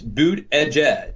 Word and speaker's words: Buttigieg: According to his Twitter feed, it's Buttigieg. Yeah. I think it's probably Buttigieg.